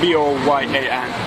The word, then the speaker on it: Boyan: Boyan, B-O-Y-A-N.